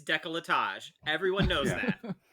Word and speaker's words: décolletage: It's décolletage. My bad. So I had the What were we syllables. saying? Delicatage.